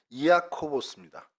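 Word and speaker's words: Ἰάκωβος: 그러니까 정확히 얘기하면은 이아코보스입니다. 그 헬라어로는. 그래서 야곱을 헬라어로 발음하다 보니 이아코보스가 됐죠.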